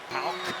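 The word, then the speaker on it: Haugh: Houck, like a K at the end, it's spelled H-A-U-G.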